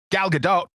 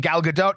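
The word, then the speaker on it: Gal Gadot: I think I've heard it pronounced I've definitely heard it pronounced both ways, but I think she hits the T lightly at the end of her last name.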